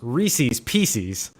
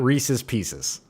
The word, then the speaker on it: Reese's Pieces: And thank you for saying it the way that it is truly pronounced. Reese's Pieces, not Reese's Pieces.